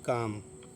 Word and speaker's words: calm: ہوگی ہتھیلی آپ کی۔ یہ دیکھیں یہ ہے کام، کام مانے سکون، تو CALM، کام، کام مطلب